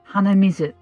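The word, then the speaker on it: 鼻水: is also okay and if you want to know how to say it it's read as hanamizu which literally means nose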